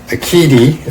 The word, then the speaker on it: Aiqidi: folks here we go this is the aiti or at least that's how I'm going to pronounce it uh sometimes you'll see